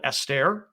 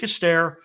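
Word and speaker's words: aster: is usually a translation of the greek word astaire a-s-t-e-r or the hebrew word kaukab okay and i we spell that k-o-w-k-a-b calcab right so either greek astaire or hebrew kokob uh the greek astaire that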